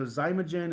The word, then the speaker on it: Xymogen: So Zymogen is spelled Xymogen.